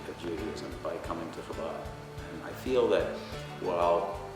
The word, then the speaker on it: Chabad: Just put the back part of your tongue against the soft palate and blow.